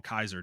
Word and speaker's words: Caesar: happened what direction they decide to go like Caesar or or actually they call him Kaiser don't they yeah they call him Kaiser they